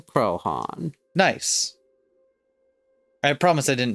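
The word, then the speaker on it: Croaghaun: situated on its slope is named after it pronunciation krohn nice i promise i didn't mean to the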